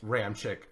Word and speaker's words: Ramczyk: Ramczyk. Is that how you say it? Yeah. Is that like confirmed pronunciation?